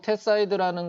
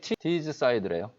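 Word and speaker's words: Teesside: 영국 테사이드라는 곳에 발전소를 건설하는데 이게 좀 대박을 칩니다. 이 발음이 티즈사이드래요.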